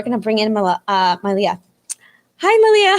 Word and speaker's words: Manlia: know that for yours the n is silent so it's malia right yes yes the